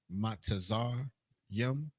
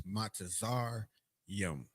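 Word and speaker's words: מצרים: You seeing those letters together, you thinking with that Western ideology or that Western teaching, and we put an extra syllable there, but it's Matazar Yum.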